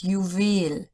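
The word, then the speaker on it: Juwel: English and German but each time in English the stress is on the first syllable and in German on the second one so total is total in German jewel is UIL in German April no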